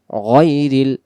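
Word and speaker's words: غَيْرِ: গয়, রলাম যে রিল, গয়রিল, গয়রিল। অনেকে যদি আমরা গাইরিল পড়ি তাহলে এটা উচ্চারণ ভুল হবে, গয়রিল, মিমগঞ্জ জবর মাগ,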